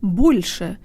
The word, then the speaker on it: больше: Hey guys, today you'll learn how to pronounce the word больше, meaning more.